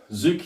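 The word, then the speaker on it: tsuki: Zuki spelt with a T. T-Z-U-K-I.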